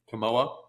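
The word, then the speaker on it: Kimoa: though for starters the uh how is it pronounced CA is that correct camoa okay so for starters the camoa merch was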